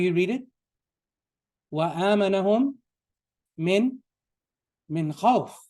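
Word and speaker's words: خوف: Do you read وَآمَنَهُمْ min khawfin, or do you read وَآمَنَهُمْ min khawf? You should do khawf. So at the end of a phrase in Arabic, you typically don't pronounce the ending. You don't pronounce the ending vowel. So going back to the book, inshallah.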